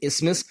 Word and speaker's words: isthmus: it's myths missmiss in the th is silent so in isthmus I don't know why